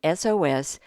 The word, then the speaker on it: SOS: the point is that the first sound in SOS is a vowel sound it sounds like a short e so we have to